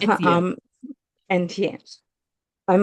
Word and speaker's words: Etienne: of course, after everything with Etienne, am I pronouncing that right? It's yeah. Um, Etienne.